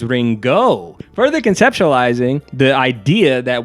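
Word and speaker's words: りんご: The vendor says, "Ringa." A purposeful mispronunciation of the Japanese word for apple, which is ringo, further conceptualizing the idea that we are not in Kansas anymore.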